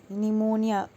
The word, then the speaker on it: pneumonia: Pneumonia. So P is the silent word. Okay. इसमें PNEUMONI. इसमें P क्या है हमारा साइलेंट साउंड है.